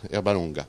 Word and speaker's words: Erbalunga: Et Annette nous dit « Bien prononcé, Herbalonga ».